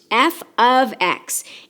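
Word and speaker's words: f(x): even if it looks like it it is pronounced F ofx and it means that I have a function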